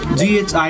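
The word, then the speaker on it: Ghizer: you pronounce Gizar? Gizer.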